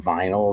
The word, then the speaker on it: vinyl: the green veny you no one really says veny anymore that used to be more of a thing like uh I think before the Europeans who did didn't know that to pronounce it veny before there were enough people on YouTube saying vinyl that they all like